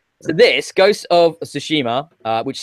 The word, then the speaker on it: Tsushima: Now, help me out with the pronunciation here of the second word in this title. Ghost of Tsushima. Tsushima, yeah.